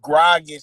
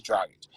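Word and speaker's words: Dragić: They missed Grogic for like 2 games. You know what I'm saying? But Grogic, like, or Dragic. How you say it? Gordon Dragic is Dragic.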